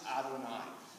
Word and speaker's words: Adonai: In the last line, the first word there is pronounced Adonai.